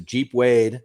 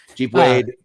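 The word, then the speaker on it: Geep Wade: Jeep Wade. I'm Can I just say I'm on board with this guy. The the the soft G like J G.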